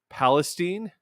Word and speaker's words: Palestine: I'm going to try and pronounce this the Ohio way. Palestine.